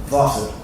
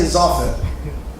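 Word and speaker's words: ظافر: Well, I'll just say Zafir, which is an incorrect pronunciation because the letter Zay is not like the letter Dha. They have totally different nature. Dha is heavy, Zay is soft.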